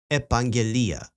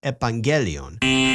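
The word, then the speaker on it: επαγγελία: The feminine noun that sometimes refers to the reported efficacy of a therapeutic medicine is pronounced epangelia with the stress on the penultimate syllable. Dr. Hillman mispronounces it as epangelion as if it were neuter trying to make it sound like evangelion which means gospel.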